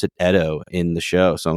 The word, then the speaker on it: Edo: It takes place in the Edo period, which is, I always thought it was pronounced Edo, but they pronounce it Edo in the show.